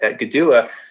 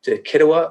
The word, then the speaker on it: Kituwah: Cherokee speakers sometimes, and it's pronounced more like a G by Eastern Band speakers here.